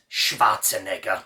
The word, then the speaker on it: Schwarzenegger: my idol my hero schwarzenegger and if you think that sounded a little bit strange that's because it's pronounced properly arnie is from austria i am from austria